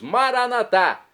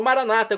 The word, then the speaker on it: Maranata: E agora eu clamo do aramaico, dialeto de Jesus, Maranatá, como dizemos nós católicos ou maranata, como dizem nossos irmãos separados, os evangélicos ou protestantes.